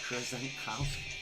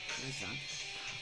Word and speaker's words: Krzankowski: Krzankowski. 4 syllables. Krzankowski. Kurzonkow as in Alright.